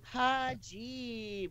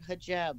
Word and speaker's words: hijab: Apparently, was taken out of context, but hajib or something she said, and it's actually pronounced like hijab or something.